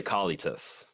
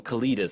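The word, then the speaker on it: Kalitas: do you guys say calli toss I say Kali to us okay like see somebody called him Kalidas said I thought that was the stupid like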